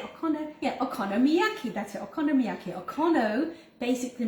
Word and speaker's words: okonomiyaki: And today we're making okonomiyaki. Oh, get it, said it right. I'm gonna have to pronounce it here.